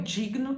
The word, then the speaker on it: digno: tem o verbo dignar eu Digno tô dignas ele digna tão vendo que é tudo assim o g não vira Gui tem também alguns verbos